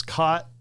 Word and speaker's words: cot: Like in my southernness I pronounce cot c o t and caught c a u g h t the same. Those are homophones to me. They're two separate words that are pronounced identically. Mhm. But to my Ohioan father they were definitely not.